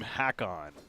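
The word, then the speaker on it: Håkon: And apparently we're supposed to pronounce his name Hakon.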